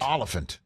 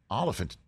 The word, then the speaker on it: Olyphant: so it's all offense Oliphant like an elephant but olive that's exactly right okay Oliphant Timothy Oliphant here on